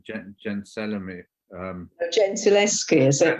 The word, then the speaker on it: Gentileschi: The work's been buried, and there's just been that show of I can never pronounce her name, Gentileschi. Gentileschi, is it? Gentileschi, yeah.